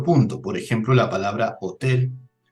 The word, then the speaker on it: hotel: En italiano la letra H no tiene pronunciación, es muda, al igual que en el español.